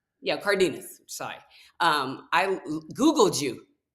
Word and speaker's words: Cardenas: I go looking up Kelly Cardin. How do you say your last name? Cardinz. Yeah, Cardinas.